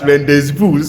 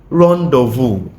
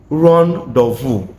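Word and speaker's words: rendezvous: It is pronounced as rendees boo which I have heard one of one of my student pronounce it once before. It is pronounced rondu. Ron dvu it is a meeting point a place where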